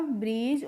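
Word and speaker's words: breeze: तो बी are double E जेड ई को बी आर को हम क्या पढ़ते हैं? ब्र करके पढ़ते हैं। और डबल ई को पढ़ते हैं। बड़ी ई की मात्रा तो हो गया ब्री। और जेड का प्रोनाउंसिएशन होता है ज। तो यह होगा ब्रिज।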